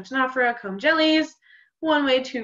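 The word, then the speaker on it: Ctenophora: They don't both sound like they start with a C, but they both are spelled with a C beginning. So Tenophora, comb jellies, one way to remember it.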